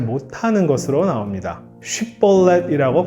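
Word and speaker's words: שיבולת: 쉽볼렛이라고 발음을 해보라고 하니 씨볼렛이라고 발음하는 것으로 에브라임 지파 사람들을 구분합니다.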